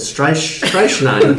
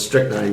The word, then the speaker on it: strychnine: You said strychnine. Strychnine. What is that? My dad was like, yo, it's strychnine. You guys are both really dumb.